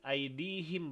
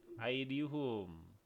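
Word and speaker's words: أيديهم: Jadi aidihim bacanya ya, bukan aidihum.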